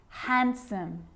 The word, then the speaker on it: handsome: So what about the letter D? Yep, it can be silent too. Wednesday, handsome, sandwich.